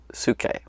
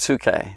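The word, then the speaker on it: ψυχή: we're talking to greek which is suke i think is how you pronounce that suke that's a greek word we say soul if you read the bible in the original language it's tsuke so it's right up here see that p-s-u-c-h-e do you see that right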